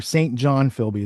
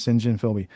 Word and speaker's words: St. John Philby: John Philby, or St. John Philby is how Americans say it, but his name's St. John Philby.